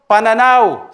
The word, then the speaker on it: pananaw: In Tagalog, pananaw. Say it. Pananaw. Gira, can you say it? Pananaw? It doesn't need to roll an R, like saying my name.